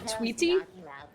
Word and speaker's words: Twigige: I regularly watch someone who also has another viewer called Twigige. And the way he pronounces that, it basically is exactly the same as Twiggy. It's like Twiggy.